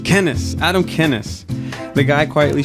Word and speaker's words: Kenes: Kenneth. Kenneth.